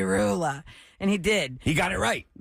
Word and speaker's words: Roula: Please, tonight, when you announce my name for my diploma, can you please pronounce it correctly? It's not Roula. Oh, Rula, that It's breaks Roula. my heart. It's Roula. Please And? say Roula.